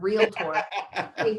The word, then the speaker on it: realtor: probably would have corrected how i even say the word realtor michigan no extra syllables yeah but really it's